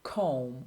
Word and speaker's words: comb: They are written in a word, but you don't pronounce them. Silent B. Bomb, climb, or debt or doubt, or comb or tomb.